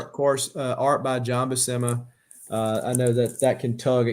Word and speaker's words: Buscema: Yeah, I always said it wrong. I said it like Bushima or something like that. Says it, but the way I learned is I went and watched John Buscema with Stan Lee on YouTube.